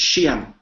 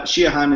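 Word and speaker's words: Siodhachan: name oh in modern in modern times it gets shortened down to just two syllables it's xi'an uh and it often winds up being a surname actually sheehan so so yeah it's uh shiahan is the uh you know the original pronunciation okay ah so we've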